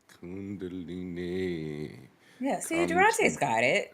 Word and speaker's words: Kundalini: could go Maya I'm not sure I can pronounce Kundalini Kundalini yeah see D's got it I got it